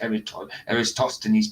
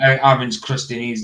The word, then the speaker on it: Eratosthenes: so make sure you pronounce Eratosthenes properly. Don't you be Yeah. calling him Aaron's Christianese.